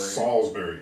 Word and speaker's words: Salisbury: Salisbury. Salisbury. Like the steak.